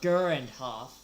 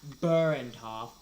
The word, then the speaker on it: Gurandhoff: Uh, and he says it just pronounced uh Gurandhoff, not Burento, not Lurento, Gurand or Gurandhoff. depends on if you can pronunciate Gurand. If not, you could just call me Gurand.